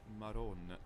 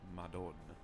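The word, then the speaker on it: Marònna: Notice how it's maron and not madon. That's because in Neapolitan the d sound between vowels can become a that's an alvola tap.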